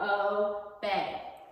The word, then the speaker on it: obey: But sometimes we're going to learn that E-Y can say A. So this E-Y says A. So that's what you would circle. Obey. E-Y is saying A.